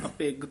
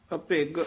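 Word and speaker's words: ਅਭਗ: coat अभग आत्म निकोर अभि उच्चारण करना अभग थोड़ा जा कस के उच्चारण करना है कई कोट अभग आत्म निकर कई कोट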